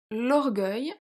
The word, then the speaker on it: l'orgueil: So, l'orgueil, if we have the spelling E-U-I-L, it will be l'orgueil. L'orgueil. Because the E after G, my G, turns the G into a soft G.